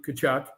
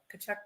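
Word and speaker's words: Tkachuk: one of them uh Matthew kachuck kachuck Puck yep it spelled with a t anyway gloves off fighting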